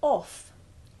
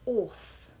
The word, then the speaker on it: off: no business to be we are thinking of its intrusion by some people in words like often which they pronounce like orphan or off which they make sound like the fish called an oaf you hear it also